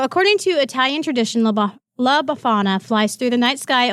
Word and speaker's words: Befana: Her name is, I believe it's pronounced Befana.